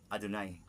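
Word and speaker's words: Adonai: I am written y vab and I am pronounce Al Dal or adunay kini m gisulat sa Encyclopedia judaica tungod saado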